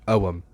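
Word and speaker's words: Ogham: think of Celtic divination we probably think of okum or some people insist that it is pronounced Owen you've probably heard of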